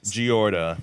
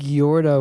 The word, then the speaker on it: Gyorda: But it's it's spelled weird. It's G Y. So, I think Gorda would be like G E O.